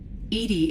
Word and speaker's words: EDI: Edy is the phonetic pronunciation of EI.